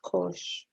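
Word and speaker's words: cosh: is pushed misspelled like this course what is pronounced coach coach X yeah that would be equal to 1/2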